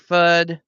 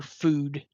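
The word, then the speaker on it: Fudd: First shot in, it's number 35, Aussie Fud at the line. I wonder if she pronunciates it FUD or food. Just curious. It's fud. You would think it would be FUD, but score 19 to five.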